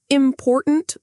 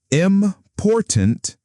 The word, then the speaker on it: important: Say important with wrong stress. Important. That sounds wrong, doesn't it? Important. That's correct. The stress is on the second syllable.